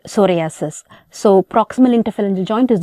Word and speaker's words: psoriasis: to remember it easily p is silent in the word psoriasis so proximal interference joint